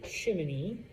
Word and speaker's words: chimney: Chimenea, I know it looks like the word chimney, okay? Or, I'm sorry, chimney. Everyone tells me I pronounce it wrong. There's no second I there.